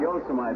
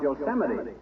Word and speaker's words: Yosemite: Not Yosemite, old-timer. That's pronounced Yosemite.